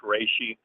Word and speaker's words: reishi: When I asked Spirit and do muscle testing, it's reishi mushroom. It's spelled REISHI, by the way.